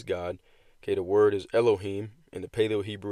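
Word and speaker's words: אלהים: name of his God okay the word is Elohim in the Paleo Hebrew it's pronounced alayam all right and it means rulers judges Divine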